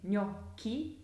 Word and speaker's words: gnocchi: So the chi syllable in gnocchi and zucchini is spelled C-H-I. And the k is pronounced as a hard k because it's spelt with C and H.